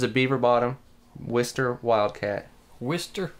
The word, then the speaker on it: Worcester: beaver bottom whisker wildcat Worcester Worcester I can't pronounce our oyster W is ter mm-hmm it's a late